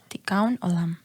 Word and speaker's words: Tikkun Olam: Espero que se pronuncie. Uh-huh. Es Tikkun Olam. Tikkun Olam.